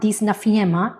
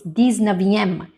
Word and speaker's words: dix-neuvième: Yes, it's not dix-neuvième. It's dix-neuvième.